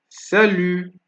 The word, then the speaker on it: salut: So examples, right, that shows that the letter T is silent at the end of words are abricot, abricot, salut, salut, and we have vin, abricot, salut, vin, abricot, salut, vin.